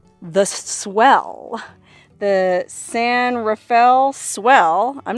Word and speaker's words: San Rafael: I still don't know if it's San Rafael or San Rafael I'm assuming it's San Rafael because well there's a town in the San Francisco Bay Area where I'm from called San Rafael it's pronounced Rafael anyways it's called the